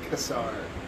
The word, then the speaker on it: Kassar: Pronounced Kassar.